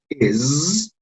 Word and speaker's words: is: Y este sonido de acá es una Z, is, no es S cuando lo pronunciamos.